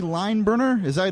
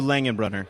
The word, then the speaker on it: Langenbrunner: Do I have that right? Langenbrunner. Langenbrunner. So it's very German. It's like 13 letters, and it's a lot easier to pronounce than you think. So it's just Langenbrunner. Langenbrunner. Got it. Langenbrunner with a runner.